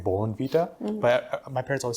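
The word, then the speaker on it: Bournvita: and apparently it's pronounced Bon Vita B what is it like there's an r in the word it's like Bon Vita but my parents always said van Vita so maybe just difference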